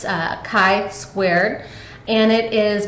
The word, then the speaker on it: chi: X is the Greek letter Chi and it's chi squared and it is pronounced Chi all right it's not Chi it's not chai um she is a hair straightener and chai is a lot a huge pet peeve of